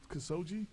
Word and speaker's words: Khashoggi: Khashoggi. That's how you pronounce it.